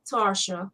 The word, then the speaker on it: Tarsha: my taste boutique owner tasha jackson from hearthstone well i always said tasha but tarsha tarsha jackson yes as she spell it her pink and